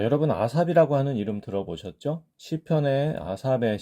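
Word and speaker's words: אָסָף: 문자가 바로 해가 되겠습니다 히브리어 방식으로 발음을 하게 되면 아싸이 마지막에 하는 발음이 있죠 아싸가 됩니다 지금 여기 모음으로 끝나는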